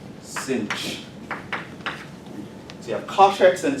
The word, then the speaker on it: sinh: sometimes they're called hyperbolic trig so this is pronounced cinch if you have contracts and sin checks the